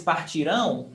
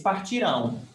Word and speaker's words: partirão: Now, eles partirão amanhã. They will leave tomorrow. So you see, eles partiram, eles partirão. The thing is, in speaking, the difference is pronunciation, where the stress is.